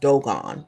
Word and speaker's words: Dogon: Now, I do know that it's pronounced Dogon. Someone brought that up, and I appreciate you. I know that we've pronounced it Dogon, but the reason why I'm using Dogon is because I'm introducing folk to what I consider to be colonial language.